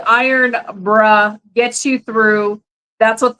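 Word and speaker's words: Irn-Bru: from uh Amazon and it says pronounced iron bruh Gets You Through that's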